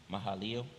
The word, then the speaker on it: Mahalaleel: How you pronounce that again? Mahalaleel.